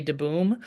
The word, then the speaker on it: DeBoom: His name is Boom, which is a nickname for his full name is Jay DeBoom, Okay. and which DeBoom pronounced de boom would be Dutch for the tree, if you're Oh.